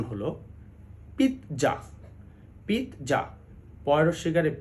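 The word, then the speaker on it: pizza: জেড এ আমরা বেশিরভাগ সময় বেশিরভাগ মানুষই এটাকে পিজ্জা বলি কিন্তু এটি সঠিক নয় সঠিক উচ্চারণ হলো পিত্জা পিত্জা পরশ্বীকারে পি খন্ডত জয় আকারে যা পিজ্জা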